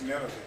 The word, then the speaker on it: Nineveh: To whom they said, We are of the sons of Nephthalim, which are captives in Nineveh. No. What is that? Nineveh. Nineveh. Right? Nineveh. Yeah, it's Nineveh. That's really how it pronounced.